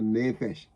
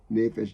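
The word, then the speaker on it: נפש: He said to deliver our soul, our nefesh, the soul, the living being, our life.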